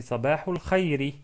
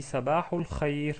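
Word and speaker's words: صباح الخير: Donc, on peut prononcer Sabahul Khairi. Sabahul Khairi. Mais ceux qui parlent l'arabe d'une manière excellente, bien sûr, il s'arrête sur une soukoun. Donc, on dit Sabahul Khair.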